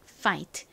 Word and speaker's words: fight: 거예요 어떻게 읽으면 될까요는 피읍 소리보다 좀 더 센 소리가 나죠 거기에의 아 소리를 연결하면 파가 됩니다 fight 한국식으로는 파트라고 보통 적는데